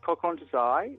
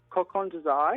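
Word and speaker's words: Kokon To Zai: It's from a shop called Coq Desai, which is in Soho. It's called what? Coq Desai.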